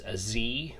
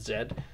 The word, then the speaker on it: Z: this is called as Z but you know here at Canada will pronounce it Zed this is a square